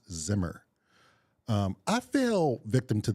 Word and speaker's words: Zimmer: of its last name it's not Zimmerman it's just Hans Zimmer um I fell victim